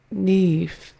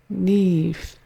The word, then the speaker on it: Niamh: The name is Niamh. Niamh. Niamh. Rhymes with leaf. So just add the N with it. Niamh.